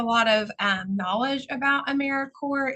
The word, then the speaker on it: AmeriCorps: of um knowledge about americore it's very quick to look at the word and say corpse but we are alive we are here americor